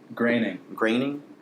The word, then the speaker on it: Groening: Graining. Groening? It's Groening. Groening? It's graining if it's spelled the same way as the dude that made The Simpsons.